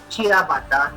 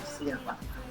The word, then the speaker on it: ciabatta: It's Italian, typical Italian bread, pronounced as ciabatta, not ciabatta.